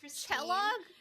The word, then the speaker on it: Kella: Is it My name is Kella. Like Kelloggs.